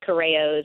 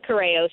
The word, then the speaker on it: Corrao: to find me there's not a lot of coros in in entertainment there's a couple there's another